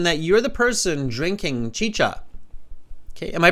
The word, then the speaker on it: chicha: okay so Carolina says uh chicha it's both cha Chi it's not chica it's chicha thank you Carolina is from Colombia so she knows how to pronounce it see we're global thank